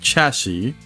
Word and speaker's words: chassis: that's a weird one because you got It's pronounced chassis right because the with the S at the